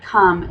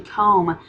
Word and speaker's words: come: are other words like come if you're phonetically reading that word it would be actually comb if you were following a phonics pattern just like with um